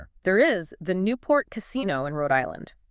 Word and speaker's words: casino: In modern Italian, if you pronounce casino without the accent, just the flat unacented word casino, right, it actually carries a very negative connotation.